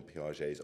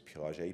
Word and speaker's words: Piaget: If you can show a picture of Jean Piaget's office, it's spelled, his name is Jean, it's Jean, and his surname is Piaget, Piaget.